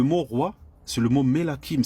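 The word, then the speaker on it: מלכים: Le mot roi, c'est le mot Melakim. C'est comme ça que ça se prononce en hébreu.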